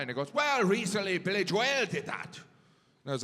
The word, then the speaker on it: Billy Joel: I was like, "Oh, you mean Billy Joel." (audience laughs) He goes, "No, it's Billy Joelle."